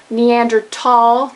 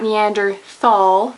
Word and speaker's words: Neanderthal: not reg or reim neander tall not Neanderthal salmon not salmon often